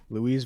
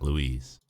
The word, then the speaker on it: Louise: I remember when he was Louis Vuitton. I remember when I used to pronounce his name Louis and not Louise. Because I didn't know that he was Louise, not Louis, like Louis Vuitton.